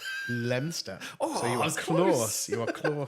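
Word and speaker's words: Leominster: this one uh uh so it's spelled Leo Minister but is it lemonster lemster so you CL you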